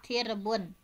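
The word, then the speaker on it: ترب: Jamak tirbun merupakan jamak dari lafaz tirbun bikasrita dengan mengkasrohkan huruf ta, wasukun ro dan mensukunkan huruf ro sehingga dibacanya tirbun.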